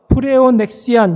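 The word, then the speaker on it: πλεονεξία: 거예요 여러분 앞에 보시면 억지로 하다라는 말에 헬라어가 프레온 넥시안 이렇게 발음을 합니다이 말이 무슨 뜻이냐면 플레이온이라는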